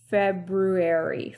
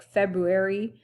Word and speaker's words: February: So, and this month, February. February. We often say it like February. We don't often hear the R, but there is.